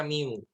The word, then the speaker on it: mu: ini disebutnya, ini adalah bacanya mu. Bukan mio ya, kalau mio merek merek motor.